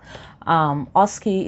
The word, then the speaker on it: OSCE: a clinical based exam oski is spelt osce for those who have